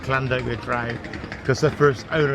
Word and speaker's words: Llandogo: Well, it should be Llandoger, because the pub's named after a village in the Wye Valley called Llandoger, so it's called Llandoger because of the stupid Bristol accent.